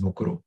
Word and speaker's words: Mukuru: sandy please tell us who and what is mukuru maybe i'm saying it even wrong no you're